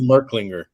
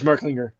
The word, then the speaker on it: Merklinger: Is that how you pronounce it? Merlinger? I say Merklinger. Yeah. I think it is Merklinger.